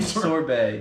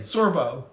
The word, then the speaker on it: Sorbo: He doesn't know what Kevin Sorbet. Sorbo.